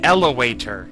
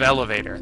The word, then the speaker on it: elevator: went out there see he said elator instead of elevator that's the kind of